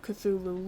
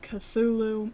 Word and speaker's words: Cthulhu: Um so Lovecraft transcribed the pronunciation of Cthulhu as a mess. I'm gonna pronounce it how I've heard it being pronounced. Cthulhu and said the first syllable pronounced gutterly and very thickly. The u is a is about like that in full and the first syllable is not unlike cull in sound. Hence the h represents the guttural thickness.